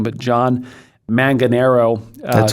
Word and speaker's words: Manganaro: And so it's by John, I'm going to mispronounce his name, but John Manganaro. That's correct, Manganaro.